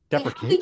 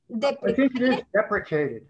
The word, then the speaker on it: deprecated: How did you pronounce deprecated? Deprecated. Okay. Yeah. Look at the spelling of the word. I think that's what I see in motion observer. Deprecated. There's no I in that word.